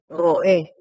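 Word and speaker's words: רואה: ¿Y la pronunciación correcta es como doé o Roé, sí. roé, así como pastor?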